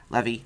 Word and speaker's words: Levi: I love the show Chuck, and I love Zachary Levi, however you say his name. Levy.